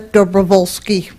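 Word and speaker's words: Dobrowolski: always welcome public input my name is dooli that's the only part that you won like oh okay you can spell that okay then you then you can start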